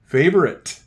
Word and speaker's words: favorite: Then we got a silent E at the end of favorite.